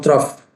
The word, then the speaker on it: trough: cmax and the true you can pronounce it true or trough plasma drug concentration both are correct so on the trough